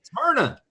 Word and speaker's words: Smyrna: Smyrna.